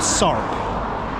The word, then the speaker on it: Sarp: And the next town after that is Sarp. Literally, it's called Sorp.